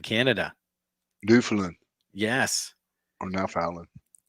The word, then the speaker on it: Newfoundland: Howie says, watching from Newfoundland, Canada. Newfoundland Yes. or Newfoundland. Accent on the wrong syllable.